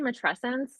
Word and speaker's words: Matrescence: I say Matrescence, but I think it's could go either way.